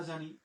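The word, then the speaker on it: jaune: এরপরে আমরা জি এর উচ্চারণ নিলাম হচ্ছে বর্গীয় জ, আ ইউ এর উচ্চারণ নিলাম হচ্ছে ওকার, আর ন নিলাম হচ্ছে জন।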